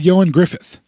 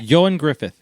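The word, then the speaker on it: Ioan Gruffudd: his name is actually yoin Griffith that's how you actually pronounce it yo and Griffith yo and Griffith because the Welsh pronounced things really really really weird like really weird yeah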